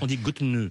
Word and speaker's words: Götene: Je le prononce certainement mal. On dit Götene. Götene, une commune de 5000 habitants qui a décidé